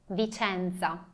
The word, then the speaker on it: Vicenza: Lembram que a gente já viu que C-E, a letra C junto com a letra E é pronunciado CE. E não C, e não si, e não ci, mas CE. Vicenza.